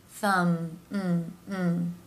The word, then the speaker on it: thumb: consonant sounds where the lips come together mm-hmm thumb and the be here is silent rule of thumb